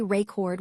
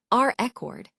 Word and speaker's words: record: When we say record with the stress on the second syllable, it's a verb, meaning to capture or store information. But if we emphasize the first syllable, record, it becomes a noun, referring to the thing that has been recorded or a document.